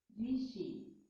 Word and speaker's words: ऋषि: री है इंग्लिश में, सॉरी हिंदी में से री कहते हैं, संस्कृत में भी ये री कहलाता है, कन्नड़ा वाले लोग इसे कहते हैं रू बोलते हैं, हिंदी में ये री है, इसका सही उच्चारण री ही है।